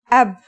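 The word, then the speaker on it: أب: It's pronounced ab.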